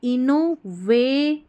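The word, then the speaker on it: innovation: एन ओ नो तो इनोवेशन शन टी आई ओ एन शन इनोवेशन is guide dead guided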